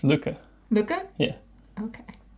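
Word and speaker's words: Lykke: A lot of people say licky or like. I think it's Leica, right? No, it's Luca. Luca? Yeah. Okay. It's like luck.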